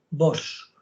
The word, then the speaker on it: Vox: Ojo, con S, no con X, Vox. Vale.